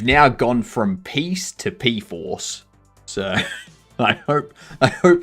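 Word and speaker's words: Pea4ce: I know it's not peace. No, no, no, no, no. That's spelled P E A 4C E. Okay, that's P force.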